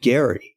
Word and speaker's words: Gerry: Elbridge, Gerry, but he pronounced it Gary.